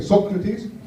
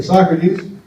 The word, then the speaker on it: Socrates: So my name is Socrates, or as the Dutch would say, Socrates, or as the English would say, Socrates, or as the Americans say, Socrates.